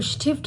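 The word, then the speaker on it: Stift: हैं पेंसिल को तो स्टिफ्ट हम देखेंगे अब यह जो एस है यह टी के साथ आया तो यह शीन की आवाज निकालेगा शीन प्रोनाउंस होगा करके तो यह स्टिफ्ट हो जाएगा ठीक है अगर हमारे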